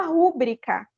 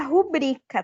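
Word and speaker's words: rubrica: que sim né falar a palavra rubrika né bastante gente fala rubrika quando o correto seria rubrika tá gente o brica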